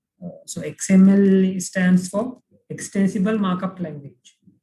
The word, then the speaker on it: extensible: so xml stands for extensible markup language right extensible not uh it starts with e later but still it's pronounced like x extensible it is called xml